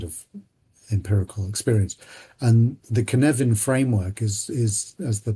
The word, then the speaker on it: Cynefin: But, that that model, Dave Snowden, he was working for IBM um uh in in the past, um is called the Cynefin framework, which is spelled c y n e v e f